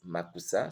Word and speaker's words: Mackoussa: Chris Makusa, ça s'écrit donc C-H-R-I-S, Makusa M-A-C-K-O-U-2-S-A.